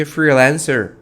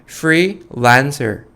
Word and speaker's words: freelancer: 프리랜서보다 발음은요, freelancer 저랑 같이 한번 해볼까요? freelancer, freelancer. 이렇게 발음하시면 조금 더 멋있어요.